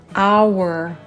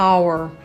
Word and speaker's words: hour: Hour. Très bien, donc ici c'est muet. On n'entend pas le R. Hour.